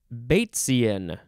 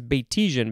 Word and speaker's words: Batesian: at the word boat now we have bait baitsian yeah i thought it was batisian because that's how it's spelled but it is baitsy and capital b-a-t-e-s-i-a-n it's like um well it's named after a guy bates so that's where that's why it sounds batesian uh it is an